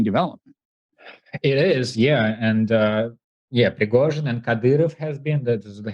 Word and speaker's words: Prigozhin: struggle between possibly this guy, how do you pronounce his name? Prigozhin, yeah.